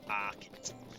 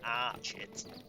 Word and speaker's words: Archet: make our way to arit it's probably pronounced archit because there is a wood around it called Chet wood so it is probably